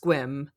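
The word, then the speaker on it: Sequim: It's spelled Sequuim, but it's pronounced Squim.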